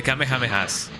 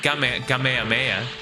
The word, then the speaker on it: Kamehameha: The Kamehamehas. Some people say Kame Kamehameha, and I don't like that. I I just say Kamehameha because you know that's how we used to pronounce it in in in here.